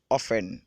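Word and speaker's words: often: femmes ça c'est ça ça s'écrit of fun mais on le lit aux fans ok enfin ce que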